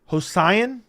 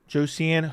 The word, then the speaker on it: Josian: You got my name as well, but the J is said like an H. Hosian. Josian.